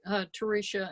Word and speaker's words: Teresha: Teresha, you want to introduce yourself? Tell us where you're calling in from? Sure. It's pronounced Teresha, and you are doing wonderfully with it. Because most people have difficulty with it, I'm known